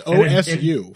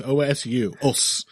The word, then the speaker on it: osu: into jiu jitsu who won't even know how os is spelled based on its pronunciation it's osu folks osu and in fact uh